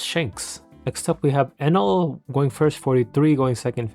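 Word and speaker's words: Enel: Next up, we have Enl going first, 43, going second, 59. Another tangent. Why do you guys call it NL?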